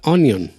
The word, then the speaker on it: onion: sí n y o n y o tiene ese cuando lo pronuncias muy rápido y cuando lo pronuncias con flojera tiene la sensación de la eñe O cuando lo pronuncias con más fuerza es como onion de hecho si yo